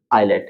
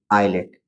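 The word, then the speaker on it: islet: ठीक तो जब भी ध्यान रखना है आपको कि आई और एल के बीच में क्या हो एस हो तो वहां पर क्या होगा एस साइलेंट हो जाएगा उसका साउंड नहीं आएगा यहां पर भी आई एस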